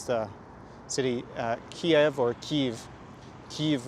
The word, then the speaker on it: Kyiv: city Kiev or Kyiv Kyiv would be ukrainian pronunciation but actually normally comes down which way you spell it Kyiv is the official name Ukrainian transliteration and Kiev would be Russian Kiev and then you see